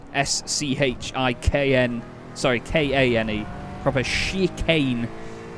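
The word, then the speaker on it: Schikane: it's s-c-h-i-k-n sorry k-a-n-e proper she Kane not like the sort of more French sounding spelling of it is c-h-i-c it's full-on German spelling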